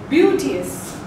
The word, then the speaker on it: beauteous: You pronounce it as beauteous.